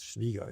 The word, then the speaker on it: Schwieger: But, you know, the Schwieger story, did I say that correctly? Is it, you know, Schwieger. It's, you know, the German pronunciation is Schwieger.